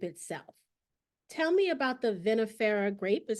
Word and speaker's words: vinifera: Tell me about the vinifera grape, is how you pronounce it?